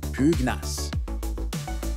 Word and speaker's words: pugnace: Prononce pugnace.